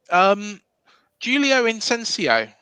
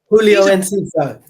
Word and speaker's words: Julio Enciso: Talking about Football Manager, Julio Incencio. I think that's how you pronounce it. Julio Enciso. See, I've been saying it wrong all these years, like Zabani, calling him Zabarini and making him Italian.